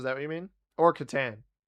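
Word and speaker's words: Catan: Or katan. It's pronounced katan.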